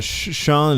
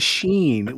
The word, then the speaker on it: Sean: Why did you pronounce it Sheen when it's Sean?